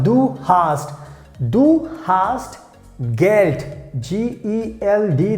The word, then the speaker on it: Geld: G-E-L-D. That means we pronounce like Geld.